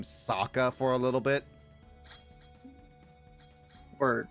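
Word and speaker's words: Sokka: I got I kept I it made me pronounce soka's name Saka for a little bit or no his name is Saka s his name is Saka no I I I mix yeah Saka is name sooka for a little bit yes like that because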